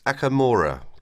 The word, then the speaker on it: Okamura: Yes, it's Akamora, Akamora. How do you spell that, please?